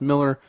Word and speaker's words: Millar: is the thing mark millar sometimes apparently it's pronounced miller whatever he made a